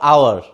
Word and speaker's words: hour: Is it hour or hour? I think you all know it. It is hour. We use only hour, but we cannot pronounce H.